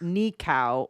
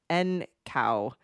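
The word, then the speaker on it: Nǃxau: So his name is pronounced Nikcow or Ncow starting with a sharp Oh, see I don't even know that.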